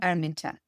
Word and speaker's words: Araminta: Araminta.